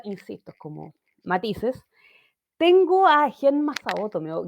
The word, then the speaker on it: Genma: Tengo a Genmao Genma en realidad porque en el doblaje le decían Genma se pronuncia Genma, el papá de Ranma.